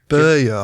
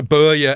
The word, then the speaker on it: Börje: Ericsson was saved by Börje Ekholm, and how do you pronounce those two dots over his O? Is it Börje? I think Börje, it's supposed to be.